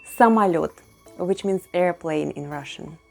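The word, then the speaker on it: самолёт: somalia just like before when letter o is unstressed it's pronounced as a somalot which means airplane in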